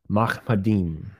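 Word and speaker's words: מחמדים: So the phrase altogether lovely is pronounced Mahmadim.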